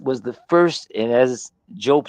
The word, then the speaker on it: Diop: Many people say Diop, but Job is how the name would be pronounced. That December 26th was the first, and as Job says, Osiris, but that's Asaru.